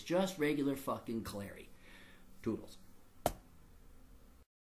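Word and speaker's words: Clarey: Listen to the Clary podcast online. And remember, it's spelled C-L-A-R-E-Y, not Clearney, not Clarney, not Clancy, not Cleary, not O'Clary. There's no O, there's no Mick, there's no Mac.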